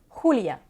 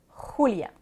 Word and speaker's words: Julia: Donc, si votre nom est Julia, il n'y a pas de « je » dans la prononciation en espagnol, ce serait Julia. Julia.